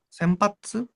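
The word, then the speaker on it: 洗髪: Senpatsu arau kami ya. Arau kami ini diartikan dibacanya senpatsu. Senpatsu ya.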